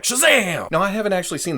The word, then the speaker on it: Shazam!: sivana it has an exclamation point so you have to say it like Shazam now I haven't actually